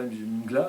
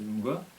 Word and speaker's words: Mgła: Alors c'est MGLA, ça s'écrit, mais le L il est barré donc ça se dit pas Mgła, c'est Mgła.